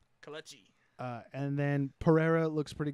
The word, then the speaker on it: Kelechi: Kelechi.